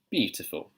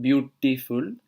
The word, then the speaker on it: beautiful: Now, the interesting thing about RP at the end of beautiful, it's not beautiful.